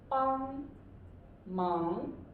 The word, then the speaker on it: 帮忙: This is 帮忙. 帮忙. So what's the tone? It's a 帮 first tone, 忙, yes, second tone. Okay, so 帮忙 first and second.